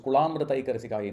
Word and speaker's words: Kulamritaika: It is not Kula. So Om Kula Mritaika Resikaye Namaha. It's Kula. There is a La, not a La.